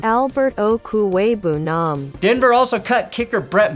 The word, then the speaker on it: Okwuegbunam: Albert Okwuegbunam. Albert Okwuegbunam.